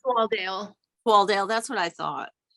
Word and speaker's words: Swaledale: And those include I don't know if you say Swaldale or Swaledale. Do you know, Catherine, by any chance? If it's what the I believe pronunciation of it's Swaldale.